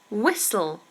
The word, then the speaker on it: whistle: while while while and whistle whistle has a silent T so you don't say whistle whistle whistle good um what else